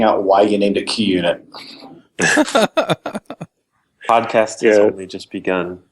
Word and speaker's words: QUnit: Branton name and you already pronounced it correctly sometimes people say qunit but that's not right yeah it came at